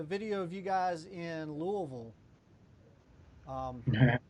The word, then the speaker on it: Louisville: of you guys in louisville um i think that's the right way to say it too you gotta you gotta swallow when you're saying it all right we're gonna